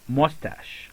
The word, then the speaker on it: mustache: And we don't say mustache, but we don't say mustache, we say mustache. Okay, so instead of pronouncing ch as ch, we pronounce it as it is, or we pronounce it as sh.